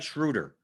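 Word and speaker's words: Schröder: his name just like schroeder right dennis schroeder schroeder schroeder he says the double dot the dots on top and he's german schroeder ronald coley says some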